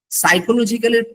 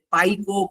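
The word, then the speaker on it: psychological: যেমন সাইকোলজিক্যালের প্রথমে যে পি আছে, এটা যে উচ্চারণ হবে না। ফর এক্সাম্পল, ধরেন কথা সাইকোলজিক্যাল কারোর জন্য অপরিচিত, উনি কিন্তু কনফিউজ থাকবে, পাইকো পাসা, মানে সরি, স্কাইকো,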